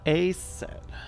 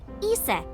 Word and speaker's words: Isis: About a set. Horus's mom is named Isis, but in ancient Egyptian, it's pronounced closer to Iset or Aset.